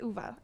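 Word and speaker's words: Uwe: Oh, I'm so excited, we are here doing business studies and this is the first time I'm working with Uva.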